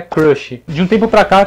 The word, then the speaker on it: crush: é minha crush e a gente falar crush crush não tem ninguém no final só mais tarde e a pronúncia original é crush porte no começo de novo crush i have a